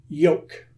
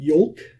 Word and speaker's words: yolk: Yoke. And while we're here, I'm going to point out that L is silent. It's not yolk, it's yoke.